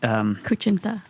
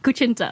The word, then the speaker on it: kutsinta: We have the Kuchinta. That's how you pronounce that?